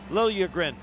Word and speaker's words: Liljegren: of ellebra yesterday in the minute you say Timothy Liljegren they say no no no no Timothy Lilya grin is the way you say that so they have the Swedish pronunciation and of course plays